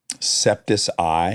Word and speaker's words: Jacksepticeye: Jacksepticeye? Jacksepticeye. It's all one word. Oh, Jacksepticeye. Of course. Not septic eye.